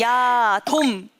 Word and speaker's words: 야돔: 야, 돔. 자, 발음주의. 야, 동쪽할 때 동 아니고요. 돔. 고척 돔 할 때 돔입니다.